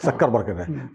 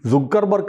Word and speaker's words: Zuckerberg: ഇസഡ് ഡ്യൂ ആണ് അല്ലേ സക്കർബർഗ്ഗനെ സുക്കർബർഗ് എന്നും പറയും സക്കർബർഗ് എന്ന് പറയും ശരിയായ ഉച്ചാരണം ഏതാണ് സക്കർബർഗ് എന്നാണ് സൂ അല്ല അപ്പൊ ഞാനും തിരുത്താം ഹനുമാൻ